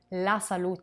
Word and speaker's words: salute: with the final e the final letter e pronounced like an a is a noun la salute is a feminine noun